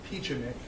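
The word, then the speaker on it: Pieczenik: questions Dr Steve I believe that's pronounced peachenik who is he Dr Stephen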